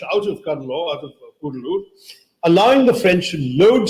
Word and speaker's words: Cuddalore: off the coast of Cuddalore. It's actually not pronounced Cuddalore anymore, thank God, Kudalur, but anyway, Cuddalore is what they called it, fought between a